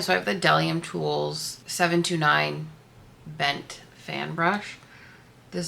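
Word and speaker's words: Bdellium Tools: Let me tell you, somebody said that it's just Delium Tools that the B is silent. So, I have the Delium Tools 729 bent fan brush.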